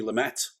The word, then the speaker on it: Lumet: it's lumet so hopefully we're saying it right um i always think lumay sounds nicer though you know it's like yeah continental it's softer isn't it it's got that more sort of francophile uh pronunciation but anyway sydney lumet